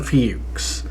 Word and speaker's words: Fuchs: Jason Fuchs.